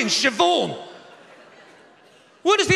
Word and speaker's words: Siobhan: there's no v in siobhan where does the h go then it goes after the b obviously the are you talking about bh is pronounced v no it's not love